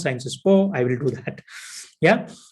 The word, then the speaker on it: Sciences Po: which is in uh it's actually pronounced in french cern sport but i am not a french so i will tell you like the way indians pronounce sciences po i will do that